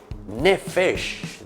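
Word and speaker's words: נפש: Y la palabrita se pronuncia así, y digan todos, nefesh.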